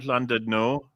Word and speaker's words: Llandudno: Llandudno. Swansea. Say it again. Llandudno? Llandudno. Llandudno? Llandudno. It's the double L is pronounced. Yes, So that's it's correct. Llandudno.